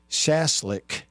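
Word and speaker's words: Schaschlik: It's s, which I think the German pronunciation, the prefix of that word would be shaz. Chasslick, but it's S C H A S C H L I K.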